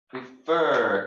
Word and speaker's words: prefer: this case prefer prefer if the second syllable second syllable fur two-syllable verb is stressed prefer intonation is in the second syllable prefer and it ends with